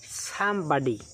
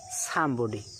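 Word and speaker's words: somebody: তো এটার দুটো সঠিক উচ্চারণ রয়েছে। আমেরিকান উচ্চারণ হচ্ছে সামবডি এবং ব্রিটিশ প্রোনাউন্সিয়েশন হচ্ছে সামবডি।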